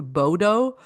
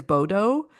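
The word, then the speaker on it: Bodø: Plane from Montreal to Munich, Munich to Oslo, and then from Oslo, a smaller plane to Bodo, I think they pronounce it.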